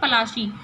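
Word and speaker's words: Palashi: Plassey is an anglicised pronunciation of पलाशी, पलाशी पढ़ते हैं ना हिंदी में वर्ड, तो उसका एंग्लिसाइज्ड नेम है, यानी कि इंग्लिश नेम है, थोड़ा सा चेंज कर दिया है, मॉडर्नाइज कर दिया है।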